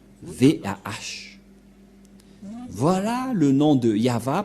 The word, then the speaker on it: Yahvah: invoqué le nom de Yahva, et la prononciation de Y-H, Vav, He, selon les Hébreux, c'est Yahva, et personne ne peut le